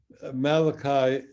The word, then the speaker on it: Malachi: Malachi is simply the English way of pronouncing Malachi, which means my messenger.